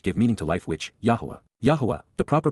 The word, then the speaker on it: Yahowah: narrow path which give meaning to life which yahwah Yahweh the proper pronunciation of the name of eloa God as